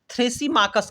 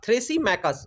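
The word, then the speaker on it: Thrasymachus: का हित है ये स्टूडेंट हो जाता है थ्रेस मकस का थ्रेस मेकस स्पेलिंग में थोड़ा सा इंग्लिश में मुझे डाउट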